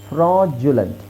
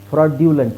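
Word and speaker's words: fraudulent: nodule ನಾಡಲ್ next ಫ್ರಾಜುಲೆಂಟ್ ಫ್ರಾಜುಲೆಂಟ್ ಫ್ರಾಡ್ಯುಲೆಂಟ್ ಅಲ್ಲ ಫ್ರಾಡ್ ಇದು ಇಲ್ಲಿವರೆಗೆ ಬರಿ ಫ್ರಾಡ್ ಅಂತಇದೆ ಎಫ್ ಆರ್ಎ ಯುಡಿ ಫ್ರಾಡ್ ಬಟ್ ಅದರದ್ದು ಇದು adjective form I mean noun form ಬಂದು ಪ್ರಾಜುಲೆಂಟ್ ಪ್ರಾಜುಲೆಂಟ್ ಸೊ ಇಲ್ಲಿ ನೋಡಿ ಜು ಬರುತ್ತೆ ಪ್ರಾಜುಲ ನೆಕ್ಸ್ಟ್ ಹಾಗೆ ಇವೆಲ್ಲ ಸ್ವಲ್ಪ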